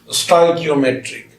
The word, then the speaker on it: स्टोइकियोमेट्रिक: स्टोइकियोमेट्रिक, इसको ऐसे भी हम लोग पढ़ते हैं एस, ऐसे अगर उच्चारण करने में दिक्कत हो, टॉय की, उसके बाद ओम ए ट्रिक, ऐसे उच्चारण कीजिए, एस टॉय की ओम ए ट्रिक, स्टोइकियोमेट्रिक।